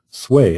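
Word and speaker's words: swai: Secondly, because it's called sway, S-W-A-I, so that's how I pronounce it anyway. Maybe it's pronounced differently, but I pronounce it sway, which calls to mind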